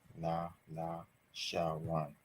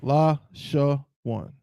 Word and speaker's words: Lashawan: 3 syllables means 3 connectors. Okay. So la, that's what this letter is, and that's its own syllable. La. Sha, again, it's its own syllable. That's 2. 1, 2. La sha. But then we only have 1 syllable left, as the sister said. So of course it has to be what? It has to connect these last 2 to make it 3. La sha 1.